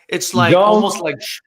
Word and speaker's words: Zhang: Zhang. I know who he is. I'm gonna say Zhang. It's like Zhang? almost like schlong without the L.